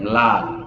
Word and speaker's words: ম্লান: আমি আপনাদেরকে উদাহরণ দিচ্ছি, দেখুন এই দেখেন ম্লান, এটার দেখেন লফলার উচ্চারণ হচ্ছে, কিন্তু দেখেন ন্যূনতম, স্বদেশ কিংবা স্মৃতি এই শব্দগুলোর দেখেন প্রথমে উচ্চারণ হচ্ছে না।